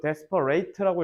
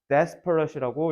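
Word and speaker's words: desperate: 없어라고 이렇게 얘기하는 사람들은 자 이것도 데스퍼레이트라고 읽으시면 안 돼요 형용사라서 발음하실 때 데스퍼렛이라고 읽으셔야 됩니다 그래서 dest가 뭐예요 절박한이란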